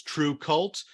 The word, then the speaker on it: TRVE KVLT: uh both uh and the book is true cult from idw and that is spelled t-r-v-e-k-v-l-t if you're looking forward